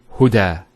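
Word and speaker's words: هدى: It's called an alif maqsura, and it's exactly like an alif, the way it's pronounced. It's like a ya without the 2 dots. So we say huda.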